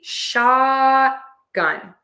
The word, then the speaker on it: shotgun: We actually do mark the T here. It's an unreleased T. So, we say shot and we just hold the tongue to the spot where the T starts. We just don't pull it down and we don't release the air. And then we move to the gun.